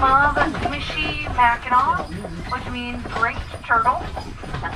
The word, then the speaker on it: Mackinaw: But they're both always pronounced Mackinaw, never Mackinaw.